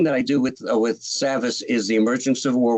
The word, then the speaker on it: Savas: Yeah, Savas Beatie.